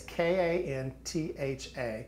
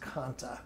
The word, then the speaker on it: kantha: one I think it's k-a-n-t-h-a yeah and it's pronounced kanta yeah I believe so too A lot of people will say kantha but I think it's kanta yeah one of my